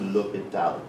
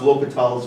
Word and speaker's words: L'Hôpital: And I forgot what this symbol is called, but it's pronounced L'Hopital.